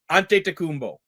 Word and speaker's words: Antetokounmpo: Antetokounmpo. Wow, dead perfect. You just pronounced that perfect.